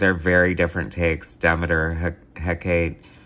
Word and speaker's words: Hecate: Demeter, Hecate, if I want to say it like the Mexican beer, Hecate, Aphrodite, love, beauty, pleasure, passion, goddess of appetites.